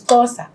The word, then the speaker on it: Xhosa: It's Xhosa. Let me just spell it because me can't know how to pronounce.